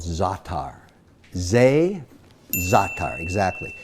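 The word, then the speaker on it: za'atar: is a spice in the Middle East called zatar they Zaca exactly it's spelled za8 t AR now this is a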